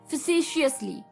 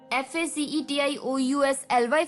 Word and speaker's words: facetiously: थोड़ी सी प्रोनाउंसिएशन आपको अटपटी लग सकती है इसकी, facetiously, FACETIOUSLY, facetiously, यानी कि मस्खरेपन से।